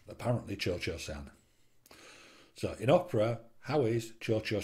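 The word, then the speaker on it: Cio-Cio-San: CI o CI o sa and but it's pronounced apparently Churchill sound so in Opera Howie's Churchill Sam better known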